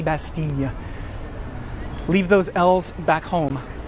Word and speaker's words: Bastille: my life calling it Bastille. You don't want to do that if you're here. That double L is not pronounced in the French language. It's more of a Y sound. So Bastille, Bastille, Bastille.